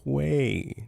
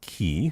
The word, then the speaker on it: quay: Quay not key.